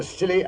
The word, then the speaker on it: Scilly: Well, tonight I thought I'd relate how Holmes and I spent New Year's Eve off the Scilly Isles.